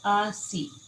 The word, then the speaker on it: ASEA: So yes, ASEA is spelled ASEA. So ASEA. And then they usually say ASEA.